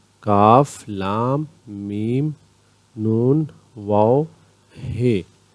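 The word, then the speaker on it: ک: Qaf, Kaf, lightly spoken at the tip of the tongue. Kaf.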